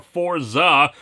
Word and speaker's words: Fourze: episodes of Kamen Rider Forza you may recall that last week I pronounced it wrong as for Z my mistake I hadn't